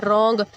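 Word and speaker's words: wrong: कॉम कंगा, B silent किया, रॉन्ग आर से और डब्ल्यू साइलेंट किया, नाइफ अगेन एन से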